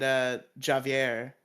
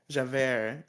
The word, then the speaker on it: Javert: Like I'll give big props to the guy who played Javier, however you pronounce that shit.